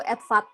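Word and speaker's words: EDFAT: Kalau dibacanya tuh EDVAT gitu.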